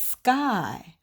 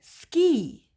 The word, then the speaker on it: sky: word yes it's sky but I see a why why isn't it ski remember the rule boys and girls if the word is long and has more than two parts two syllables pointy that Y says E but if it's a short word and it only has one syllable one part sky then that Y says I all right now I